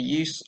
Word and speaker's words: as: So the word as in the phrase is pronounced us. Okay, a weak sound.